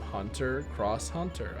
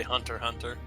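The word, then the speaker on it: Hunter × Hunter: kangan ashura wing from hunter cross hunter i think that's how you say it no you just say hunter hunter oh okay and of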